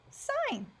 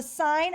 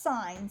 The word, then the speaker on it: sine: going to look at sine a little bit different so the sine of 71 equals twenty three over X again that's not sin it's actually pronounced sine so make sure that